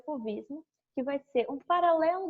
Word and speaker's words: fauvismo: Fauvismo, a gente pronuncia fauvismo mesmo, porque vem da palavra fauves em francês, que significa feras.